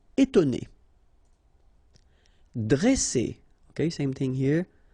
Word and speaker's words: étonner: Okay, so first you've got this accent aigu, et, and then you've got to, and then né. Étonner.